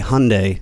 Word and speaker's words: Hyundai: hell they're called uh it's supposed to rhyme with mundai Hyundai Hyundai Hyundai Hyundai I